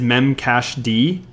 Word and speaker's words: memcached: yep another one is memcache d I think that's how you say it or do you just say memcached I personally memcached really lot of people say memcache d but okay it could